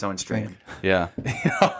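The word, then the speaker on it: Strachan: u c h a n he even said strand right yeah yeah it's Owen strand yeah all right Owen strand if you're listening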